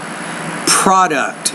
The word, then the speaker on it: product: our protector down yeah we see product not product product so stress is on that first syllable their nets from product